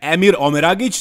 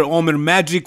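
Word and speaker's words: Emir Omeragić: In second, we had Emir Omeragic. That's how you pronounce his name. It's not Emir, Omer Magic, or whatever.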